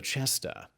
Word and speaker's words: Cesta: the 2nd tower, the ‘Cesta’ [Note: Italian pronunciations are in play. ‘Cesta’ sounds like ‘chesta’] This was used as a main barracks and lodging quarters for the garrison of the castles.